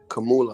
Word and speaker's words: Kamala: Kamanya, you mean Kamanya Harris? Kamanya Harris? Kamala.